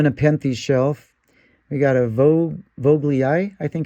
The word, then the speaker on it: vogelii: And on the Nepenthes shelf, we got a Vogelii, I think it's pronounced.